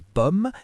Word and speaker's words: pommes: des pommes, des bananes, des oranges. Les S à la fin ne se prononcent pas mais ils sont importants à l'écrit.